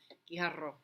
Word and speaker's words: Guijarro: but one is that it does require students to pronounce a few of the sounds in Spanish that tend to be difficult for English speakers. The gi, the ha, and the ro. Guijarro.